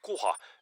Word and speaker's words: kuha: Kuha.